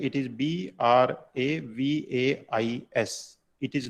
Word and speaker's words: Bravais: going to start a new topic that is bravais brave lattice you see the spelling it is b r a v a i s it is not spelled as brevis it is is correct pronunciation so bravais lattice it is not spelled